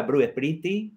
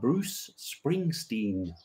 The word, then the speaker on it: Bruce Springsteen: Porque tengo un amigo me dice, Gavin, ¿te gusta Bruce Sprinty? Y yo digo, no sé quién es. ¿Bruce Sprinty? No sé quién es. Ah, Bruce Springsteen. Y ahora me viene siempre y me dice, Bruce Springsteen.